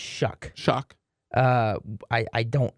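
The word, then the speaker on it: Shough: Shock. So So it's actually pronounced Shuck. Shock. Uh, I I don't know why it's pronounced Shuck, but that's how they pronounce it. It looks like show, but it's Shuck.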